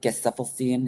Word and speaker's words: Gesaffelstein: Gesaffelstein, is that how you say his name?